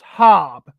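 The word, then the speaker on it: Habe: Ed Sanders the family Marina hob pronounced hob is identified as the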